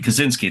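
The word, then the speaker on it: Kosinski: Kazinski. There you go. That's I said it right.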